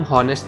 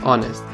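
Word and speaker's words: honest: अब देखो यहाँ पे ऑनेस्ट को हम हॉनेस्ट नहीं बोल सकते, एच साइलेंट है, इसीलिए जब हम उनको प्रोनाउंस करते हैं तो ONEST की हमको प्रोनाउंशिएट होती है, ऑनेस्ट।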